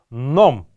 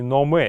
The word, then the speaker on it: ном: Гелингер, то есть посредством этого буддийского монаха, ном, ни в коем случае не номе, именно правильно произносить это слово ном, потому что оно происходит из древнегреческого слова номос, что значит учение или какая-то наука.